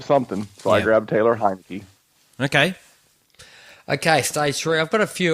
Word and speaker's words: Heinicke: his last name correctly hanneke Heinicke not Heineken that's a good beer this is